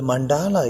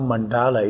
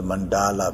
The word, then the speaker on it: mandala: So, so the mandala is actually very deep and profound meaning. So the the term mandala itself is originated from the Sanskrit language and uh actually is uh not the mandala but it's mandal mandal mandal it's the